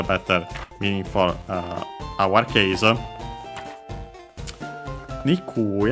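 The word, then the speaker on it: にくい: Nikui I want to check hopefully it will also be accented always but we'll see. Let me quickly see Not that one, this one. And yeah, luckily also always accented.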